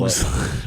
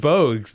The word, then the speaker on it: Bogues: Mogs. Reminds me of. Did you say Bugsy Mogs? Yeah. All the It's short Bugsy guys. Bogues, man.